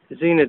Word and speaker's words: Zener: that with one of these zener diodes or zender diodes depending on how you want to pronounce it um they can actually